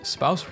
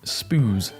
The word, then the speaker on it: spouse: Wait, spouse rhymes with house? I always pronounced it spoos in my head.